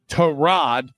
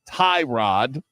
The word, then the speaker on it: Tyrod: Terrod, not Tyrod. Uh, according to Baker Mayfield, that's how you pronounce the starting quarterback's name for the Jets.